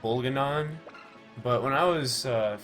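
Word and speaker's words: Bolganone: think he did man i'd like to have baloney i know it's pronounced like bulganon but when i was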